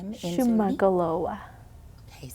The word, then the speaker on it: Shuman'olo:wa: Peywa: Maybe because of the way in which it's pronounced, with the stops and pauses and the ways in which the letters have the longer vowel sounds and different things like that.